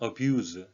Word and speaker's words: abuse: abuse, 동사, 명사로 쓰이는 단어인데요. 동사로는 abuse, Z 발음을 해주고요. 명사로 할 때는 abuse가 되겠습니다.